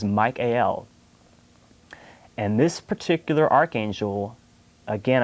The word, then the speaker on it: Michael: and the pronunciation but if we break down the word michael the el ending means god of god and so to pronounce it how he would traditionally pronounce that name is not proper so the proper pronunciation for that particular archangel is mike al and this particular archangel